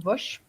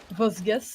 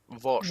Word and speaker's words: Vosges: And it's gonna be our match is gonna be on Vosh. Yes. Or Vosges, as you guys all mispronounce. Vosges? Vosh.